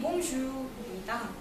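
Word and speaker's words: bonjour: 먼저 불어로 안녕하세요는 봉주입니다. 우리가 흔히 봉주르라고 많이 알고 있는데요. 르까지 발음 안 하고요.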